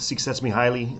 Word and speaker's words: Csikszentmihalyi: kind of end with suets me highly um which is how I believe he can pronounced his name U who's been around